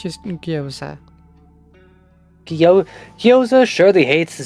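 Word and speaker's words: gyoza: Zoe goes to town on some guoza.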